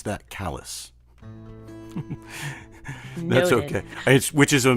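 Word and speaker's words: Calais: that's uh pronounced around here these parts we pronounce that callus that's okay which is a mispronunciation in most people uh it's a you know an anglicisation of C so it's spelled CA and pronounced Callis and and it's a cute cool little place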